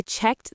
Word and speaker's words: checked: Now, checked and looked. Checked, looked. Both have T endings.